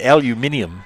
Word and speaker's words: aluminium: put any sort of aluminum on it or as the British say aluminium aluminium that's really how you're supposed to say it aluminium that that other metal